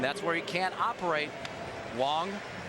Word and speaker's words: Wang: is chin ming wong spelled wang but pronounced wong and this guy is 6-0 in day games this year he must be hard to pick up and tom he's a big fella wong goes 6-3 220 he's